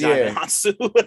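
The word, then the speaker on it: Djimon Hounsou: I just learned like really recently that that's how you pronounce his name. So yeah, it's Jamin Yeah, Hansu.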